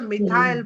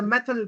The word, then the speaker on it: methyl: And this is called the methile branch. or the methyl branch. Okay? Or however you want to pronounce it.